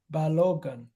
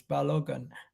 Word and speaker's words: Balogun: His name is Balogun. Yeah, you're right. You're right. I keep pronouncing an A before the G. You're right. I keep pronouncing an A before the G. It's Balogun, not Balogun.